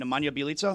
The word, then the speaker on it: Nemanja Bjelica: Nemanja Bjelica?